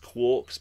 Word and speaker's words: quarks: We know that if it doesn't contain charge, it also doesn't contain what are called quarks, sometimes pronounced quarks, but I don't like that.